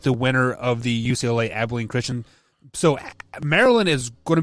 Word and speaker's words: Abilene Christian: uca ucla and uh abolition christian or what i'm sorry i pronounced that incorrect abilene christian yeah abilene christian excuse